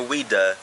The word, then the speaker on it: Ouidah: you know without even the real name is wida because the people who